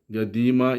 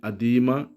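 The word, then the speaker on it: قديمة: ഗ എന്നാണ് അവര് ഉച്ചരിക്കാറുള്ളത് അതുപോലെതന്നെ ഗ നമ്മൾ ഒറിജിനൽ അറബിയിലുള്ള ക എന്ന പദം കൊളോക്കൽ അറബിയിൽ ഗ എന്നാണ് ഉച്ചരിക്കുക അതുതന്നെ ഈജിപ്ഷ്യൻസ് അ എന്നാണ് ഉപയോഗിക്കാറുള്ളത് അപ്പൊ അതുകൊണ്ടാണ് അദീമ ഗദീമ എന്നതിനെ അവര് അദീമ എന്നാണ് അവരുടെ ഉച്ചാരണം വരുന്നത് അപ്പൊ അനന്തി സയ്യാറ ഗദീത വബർദു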